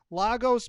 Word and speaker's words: Lagos: glad you're on you've got this new recording lagos pepper soup am i pronouncing that correctly that's right legos pepper soup